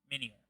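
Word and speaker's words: Minior: They've been adding the miner minor minor, that's how you say it. have been adding the minier which uh is a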